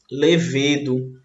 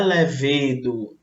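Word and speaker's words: lêvedo: ocorrentes com a palavra levedo. Muita gente fala levedo e não é levedo, é levedo. Por quê? Porque aqui nós temos o uso da proparoxítona, é mais forte, ó, a antepenúltima sílaba, certo?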